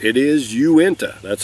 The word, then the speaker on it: Uinta: pronounce this and i was correct it is uinta that's how you pronounce it and what this is uenta is